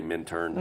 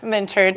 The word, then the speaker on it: Minturn: I say Minturn. I pronounce the T. Minturn.